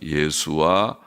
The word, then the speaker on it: 예수아: 예수아 혹은 여호수아라고 읽기도 합니다.